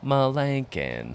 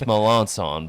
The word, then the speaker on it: Melanson: Kind of like Malankin. Yeah. It's Melanson, but close.